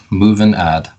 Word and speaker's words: MovinAd: MovinAd? Yep, MovinAd.